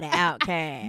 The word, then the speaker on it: Outkast: mighty Outkast. Mighty. Pronounce Outkast. Outcast. Yeah. Don't even say the T. Nah. We don't say Outcast. No. We say Outkast.